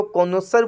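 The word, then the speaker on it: connoisseur: art music taste इसको क्या बोलते हैं उसको कोनोसर बोलते हैं CO dull N ओ I double S ई यू are spelling जरूर ध्यान रख लेना वन हु वक्स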